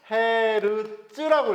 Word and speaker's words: 헤르츠: 이거를 뭐라고 읽냐면은 헤르츠라고 읽어.